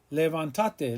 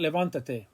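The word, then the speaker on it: levántate: the rule that's why levantate has an accent mark on the a if you didn't have it it would be pronounced levantate levantate levantate but we want levantate all right so much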